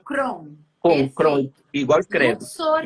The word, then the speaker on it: Kron: Pronuncia Crown.